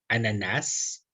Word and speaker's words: ananas: Nous trouvons en français des exemples phonétiques, par exemple, à la prononciation d'ananas, ananas, même si dire ananas, c'est pas la règle, c'est pas correct, en principe, est accepté. On peut dire ananas, ananas.